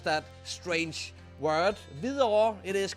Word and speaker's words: Hvidovre: Yes, only Danes know how to pronounce that strange word. Hvidovre, it is called.